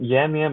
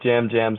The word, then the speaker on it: Yam Yam: I know it's spelled with a Y, but I think it's kind of pronounced with a kind yeah. of a J. I like Jam Jam, so for the podcast, I'll be calling him Yeah.